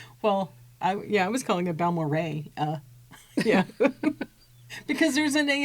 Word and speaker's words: Balmorhea: But when you drive into Balmorhea, and Balmorhea is named after 3 individuals.